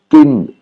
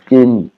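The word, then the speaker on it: กิน: manger en thaï, c'est kin. Hein, normalement, tout le monde dit kin, qui s'écrit comme ça en phonétique. Hein, c'est une intonation normale, donc en noir, kin, qui veut dire manger.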